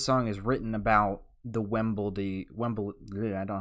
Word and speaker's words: Wembley: Wembley, Wembley.